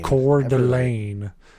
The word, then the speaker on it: Coeur d'Alene: like phonetically like offline Coeur d'Alene and it's got It's like core and then D apostrophe Elaine and it it pisses